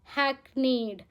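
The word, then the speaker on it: hackneyed: हमारा next word है हैकनेड। कैसे प्रोनाउंस करोगे? हैक नेड।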